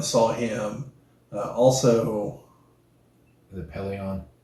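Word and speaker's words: Pellaeon: novels we finally saw him uh also the Pelion peleon that's it that also hooks but it's not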